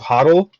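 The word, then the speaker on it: HODL: so this one the idea is it's called hoddle is how you pronounce it and it started by this drunk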